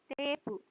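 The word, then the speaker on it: テープ: Sama juga ini. E-nya double dibaca panjang.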